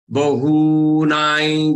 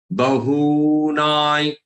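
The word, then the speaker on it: बहूनां: On top of this na, that anuswar is there, which has to pronounce as ya. Bahu, and who is to be taken as long. Don't pronounce it as short one. Don't say bahuna.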